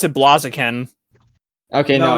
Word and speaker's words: Blaziken: I bet you pronounce it Blaziken. Okay, No, no. it's Blaziken.